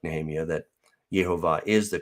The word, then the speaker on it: Jehovah: i'm of the persuasion also like nehemiah that jehovah is the correct pronunciation but we do see variations on that